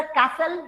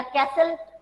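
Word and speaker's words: castle: इसी तरह कैसल या कैसल में T प्रोनाउंस नहीं होगा।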